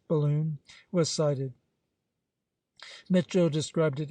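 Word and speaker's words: Balonne: beginning of April when the Balon pronounced balloon was cited Mitchell described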